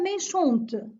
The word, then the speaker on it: méchante: La fille est méchante. Et ici, méchante se termine par E. Et puisque j'ai ajouté le E, je vais prononcer le T.